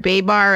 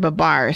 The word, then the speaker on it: Babar: we better rehearse I know how do you say the name of the elephant I don't know I've heard B bar and I've heard Babar so pronunciations oh my gosh